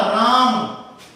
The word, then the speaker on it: रामः: इसका उच्चारण होगा है की तरह, रामः। तो इसका उच्चारण ह की तरह हो रहा है, रामः, रामौ, रामाः, रामम, रामौ, रामान, रामेण, रामाभ्याम, रामई।